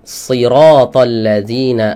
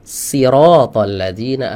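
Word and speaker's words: صراط الذين: ya salah makhrajnya ya harusnya eh shathalladzina an'amta alaihim dibaca sirathalladzina an'amta alaihim harusnya Shad dibacanya pakai Sin makhrajnya dua dua dua huruf ini sama cuma sifatnya berbeda Nah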